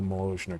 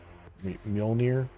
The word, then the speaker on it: Mjolnir: Okay, we got not a big big fan of the Mosianer cannon. Mjolnir. Always mispronounced this on my first try.